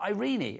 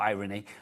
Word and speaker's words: Irene: Irene. It's Irene, not irony.